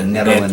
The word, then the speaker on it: Nederland: With the Nederland.